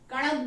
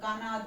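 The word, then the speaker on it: कणाद: ठीक है, कणद बोलते हैं इसको क्योंकि हिंदी में ण है पर इंग्लिश में ण कुछ नहीं है, तो कोई लोग इसको कानाद, कोई कंडाड ऐसे प्रोनाउंस करते हैं, बट ये महर्षि कणद ने कहा था।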